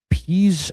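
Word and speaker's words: Pease: In Minneapolis, there is a place called the I don't know if it's still around anymore, but it was called uh Peas Academy, and it's spelled P E A S E, and it's in Dinky Town.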